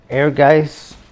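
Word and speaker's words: Ehrgeiz: could have been on here and it's not air guys or EHR GE I Z however you want to pronounce it that's the correct pronunciation as far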